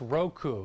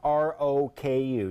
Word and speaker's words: Roku: The symbol is great because it's R-O-K-U, just the way the company is pronounced.